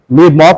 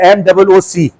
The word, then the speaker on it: MOOC: What is the role of massive open online courses during COVID-19 and how mock courses, mock नहीं MOOC है, MOOC, इसने spelling गलत लिखी